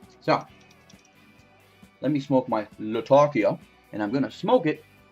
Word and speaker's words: Latakia: Latakia you know Latakia I'm gonna change my pronunciation of that because that is the name of the city where it comes from it's Latakia I don't know why